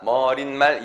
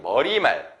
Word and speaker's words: 머리말: 얘들은 표준 발음 자체가 머릿말, 인사말이 아니라서 그렇다고 했죠. 표준 발음이 머리말, 인사말, 고래기름이에요. 그래서 여기 나는 요 소리가 안 나요.